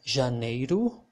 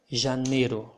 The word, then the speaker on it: janeiro: hear some native speakers saying both janeiro or janeiro like there was no i here and the both thing happens here you can listen you can hear some brazilians saying feverero or feverero both pronunciation are okay and i also call